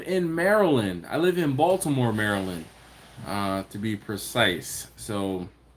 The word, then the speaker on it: Baltimore: Maryland so Baltimore Maryland you can tell I'm not from Baltimore because I pronounce the T in Baltimore we talked about that